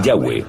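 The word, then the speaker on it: Yahweh: son y hw área y pensamos que probablemente se pronunciaba el yagüe o algo así pero ya ve solo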